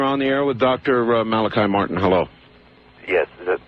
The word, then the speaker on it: Malachi: Father Malachi, is it? Yes. Okay, pronounced it right.